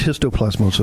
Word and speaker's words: histoplasmosis: It's pronounced histoplasmosis.